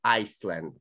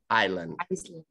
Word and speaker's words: island: But one thing, just correction, not Iceland, island. Iceland. Letter S, we do not pronounce. It's silent. Island. Island, power, call. Ko chang, ko tao, ko. So island, not Iceland.